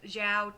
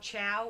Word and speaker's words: Zhao: He pronounced Sokka Soka, and he pronounced Zhao Chow or Cho or something like that. He's the worst.